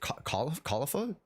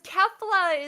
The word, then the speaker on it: Kefla: Is it Kaulifa? How do you pronounce it? It's Kale. I'm the other one. Wait, you're only Kale? Yeah. Well, cuz Kefla is the one.